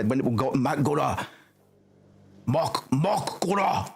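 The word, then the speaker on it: Mak'gora: Mokgora. That's it. You got to say it like an orc.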